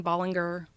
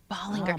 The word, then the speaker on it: Ballinger: My whole life it was Colleen Ballinger. Ballinger.